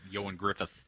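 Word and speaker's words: Ioan Gruffudd: uh yoan Griffin Griff well Yan Griffith yeah is how you say it but it's spelled it's spelled Iowan Griff yeah um at any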